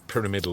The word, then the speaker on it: pyramidal: it should be pronounced but I suppose if we take where it got its name from as a pyramid perhaps the best way is to say pyramidal Orchid and and you're fairly